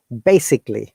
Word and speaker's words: basically: going to practice together it should be the a should be you know uh schwa sound that means we have we don't have to pronounce it so it should be basically not basically could you